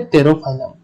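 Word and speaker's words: Pterophyllum: तेरा से याद रख लेना, पी साइलेंट है टेरोफाइलम, और टेरोफाइलम को हम एंजल फिश भी कहते हैं।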